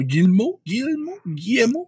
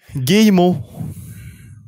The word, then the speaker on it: Guillemot: Comment on prononce son Guillemot?